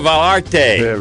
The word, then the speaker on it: Vallarta: welcome in from Porto valte very good did I say it right I'm getting close roll the L's make it sound like a y and oh you do